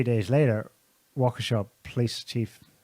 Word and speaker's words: Waukesha: How do you pronounce it, Scotty? Waukesha.